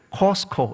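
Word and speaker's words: Costco: 미국은 그곳을 코스코 이렇게 부릅니다. 한국은 코스트코, 발음을 너무 정확하게 하시니까 그렇게 부릅니다.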